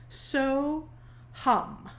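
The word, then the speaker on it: Soham: is a sanskrit phrase so hum it's spelt in in english s o h a m pronounced hum which means i am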